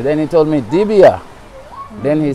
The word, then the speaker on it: Dibia: And most persons, when they hear Dibia, they would spell it D-E-B-I-A, they would pronounce the E, you know, but it's D-I-B-I-A, Dibia, yeah.